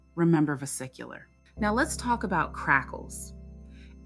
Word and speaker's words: vesicular: Pronunciation: vesicular.